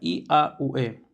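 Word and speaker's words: Yahweh: Así está cómo se escribe y cómo se pronuncia I a U e.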